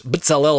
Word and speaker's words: B'tzal'el: When we read historically about empowering individuals such as B'tzal'el and Shimshon, right? That's I don't even know how you say it in English. B'tzal'el is how I say it in Hebrew.